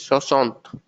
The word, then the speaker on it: soixante: is again unique, is soixante. 6 is sis, 16 is says, 60 is soixante.